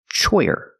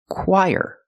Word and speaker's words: choir: This word is not pronounced choyer. It's pronounced choir. Very different than how it looks. So the ch makes the c- sound like the letter k-.